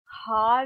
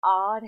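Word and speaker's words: hour: कुछ ऐसे शब्द होते हैं जैसे एच ओ यू आर, हार नहीं है, ये आर है। मित्रों यहां पे ये जो एच है ये साइलेंट है, इट इज a silent letter, right.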